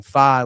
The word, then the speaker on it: Faye: They pronounce his last name Faye, like it rhymes with sky.